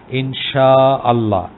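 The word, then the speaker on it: إن شاء الله: আসলে বলা উচিত ইনশাআল্লাহ। একটু শাটা একটু লম্বা করে হবে, যেহেতু একটা আলিফ আছে, ইনশা একটু লম্বা, আল্লাহ। এই হামজাটা আসলে উচ্চারণ করতে হবে। হামজাটা উচ্চারণ করলে ইউ আর ওকে।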